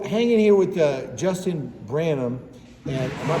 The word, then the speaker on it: Branum: foreign so hanging here with uh Justin Branham and am I pronouncing that right that's correct yeah ran up